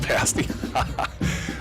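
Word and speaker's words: Ishpeming: says go pirates Donnie Joe says oh it's pronounced pass me well I'm sure everybody got a kick out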